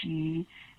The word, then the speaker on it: Sidhe: The Irish, they call them fairy folk or she. Sidhe is spelled in Irish. She.